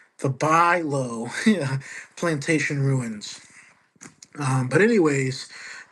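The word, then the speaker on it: Bulow: Uh Bo is it it's spelled B U L O W which gets one to think do I pronounce it as bullo?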